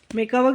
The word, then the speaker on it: macabre: मेकअवर की स्पेलिंग देख लेते हैं, MACABRE मेकअवर बोलते हैं।